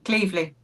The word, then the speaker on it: Cleveley: We have a couple great special guests, Kate Morrill and Charlotte Clevelet. Did I pronounce that right? Almost. Cleveley. Cleveley.